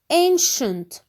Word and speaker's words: ancient: Number 2, ancient. Ancient. The CI is pronounced sh.